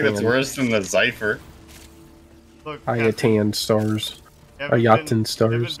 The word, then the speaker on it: Ayatan: 2 Yaten stars, by the way. Yaten stars? Yeah! Yeah! Okay. Oh, no, I feel like that's worse than the Zypher. Ayatan stars.